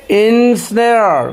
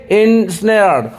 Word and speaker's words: ensnare: देखिए, एस से पहले लकीर है तो इसका मतलब एस पे जोर देना होगा।